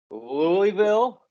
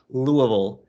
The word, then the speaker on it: Louisville: or niles oh niles louisville or whoa the second one was closer to the proper pronunciation of louisville which by the way